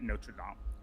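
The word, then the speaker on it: Notre Dame: Uh oh sorry Amy Coney Barrett the woman that Trump appointed she was a yeah an academic at Notredam right thank you for pronouncing it properly.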